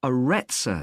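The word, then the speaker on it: Arretsa: okay there's one more place you might be interested in that's got a rather strange name it's called the aretza center that's spelled a double r e t s a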